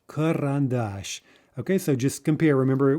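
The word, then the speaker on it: карандаш: maybe two syllables in front of the stressed syllable it reduces to uh gaziata karan dash karan dash okay so just compare remember we can transcribe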